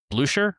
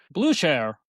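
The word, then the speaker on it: Blücher: and he calls it Blusher, I think is how you pronounce that. There's a Prussian general that beats Napoleon that it's he named this after. Blue Share. Blueshare. Yeah. I We need the Austrian accent to actually pronounce that properly.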